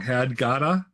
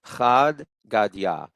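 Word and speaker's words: חד גדיא: The child's song had Gada. Is that So it is Chad Gadya.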